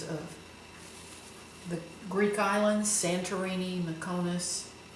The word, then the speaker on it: Mykonos: the Greek islands, Santorini, Mykonos, or Mykonos, I guess is the proper way to say it.